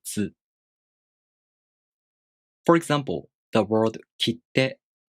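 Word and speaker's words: 切手: For example, the word kitte. If you don't pronounce the small tsu for a duration of one mora, it sounds like kite, kite, kitte, kitte.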